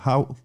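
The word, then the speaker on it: Hough: puis l'arrivée de Cameron Howe. Ouais, exactement. H-O-U-G-H, qui se prononce Howe, qui sera peut-être qualifié pour le match de samedi prochain, mais aucune garantie encore maintenant.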